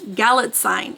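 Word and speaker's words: Galitzine: Nicholas gallit galit galit galit sign I think it's how you say it because she said it rhymes with Magazine on gallet sign whatever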